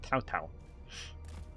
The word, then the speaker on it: Cao Cao: It's with a T. It's pronounced like C-A-C-O-A. It's like that, but it's pronounced Tao Tao. The actual pronunciation of his name is with a T, not a C.